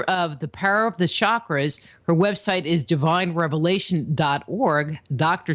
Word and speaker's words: chakra: For the listeners, just to kind of get us started, what are chakras? Okay, the word is pronounced chakra, and that word is a Sanskrit word, comes from India.